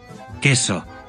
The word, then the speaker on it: queso: La U que sigue a la Q es muda en español, mientras que en italiano se pronuncia. Queso. Quello.